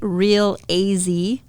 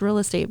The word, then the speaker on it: Real AZtate: Real AZ Tate. I'm like, no, it's real estate, but okay.